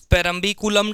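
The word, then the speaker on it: Parambikulam: Periyar tiger reserve है, और एक अपना है परम्बिकुलम, परम्बिकुलम tiger reserve. South के नाम है, हिंदी में प्रोनाउंसिएशन थोड़ा ऊपर नीचे ए आ की मात्रा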